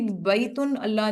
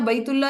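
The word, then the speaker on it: بيت الله: साथ इसे प्रोनाउंस किया आप कभी बैतुल अल्लाह नहीं कहते हमेशा बैतुल्लाह ही बोलते हैं बैतुल्लाह जिसे उर्दू में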